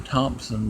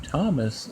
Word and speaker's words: Tomas: And it's not Thompson the Time Lord, it's Thomas the Time Lord. And it's not spelled with an H, it's just spelled Tomas.